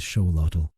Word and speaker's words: Xolotl: Within this cultural landscape emerged the legend most often associated with the axelottle, the legend of a god named Zolotal, pronounced roughly as Sholottal.